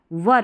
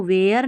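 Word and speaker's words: were: वाई S systems systems वर इसको वेयर नहीं पढ़ना है वर टेस्टेड टेस्टेड रिपीटेडली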